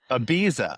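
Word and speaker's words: Ibiza: Abiza. Abuse. Ah, you have to say it like an American.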